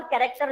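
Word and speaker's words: character: जैसे for example कैरेक्टर में H silent, school में एच साइलेंट,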